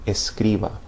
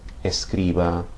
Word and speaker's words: escriba: but when you pronounce these, it's important to remember to stress the second to last syllable.